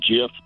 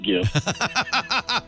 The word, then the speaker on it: GIF: go against the guy who designed it it's pronounced GIF not GIF oh we could we could go on and